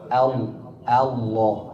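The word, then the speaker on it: الله: daiman fi kalimah wahidah kemarin Syekh sebutkan lam selalu tipis kecuali tebal. Ada di Allah Allah lafzul jalalah. Hanya ada di lafz jalalah faqat faqat laf jalalah faqat Allah. Hanya di lafzul jalalah lam itu kita tebalkan. Adapun di seluruh kalimat semua lam diucapkan dalam keadaan tipis.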